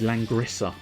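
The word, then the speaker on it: Langrisser: the gaming question is langrissa one and two i don't know if that's the correct pronunciation but l-a-n-g-r-i-s-e-r one and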